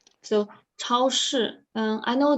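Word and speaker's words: 超市: 不好意思 So 超市. I know these two characters are pretty hard because it has you have to roll your tongue. 超市.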